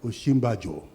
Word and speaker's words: Osinbajo: Sikuru came and said, it's called Osinbajo.